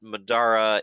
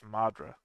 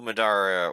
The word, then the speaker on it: Madara: I guess I've just been pronouncing his name wrong the whole time. I always thought it was Madra.